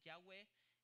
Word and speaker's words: Yahweh: Son las letras hebreas que traducen, que se pronuncian Yahweh, que para nosotros se pronuncia Jehová.